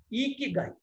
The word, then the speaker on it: Ikigai: It's a pronunciation of this is called GAI is pronounced as Guy, GUI. Okay, and IKI is pronounced as Iki. So how do you pronounce this? In Japanese, it's Ikigai.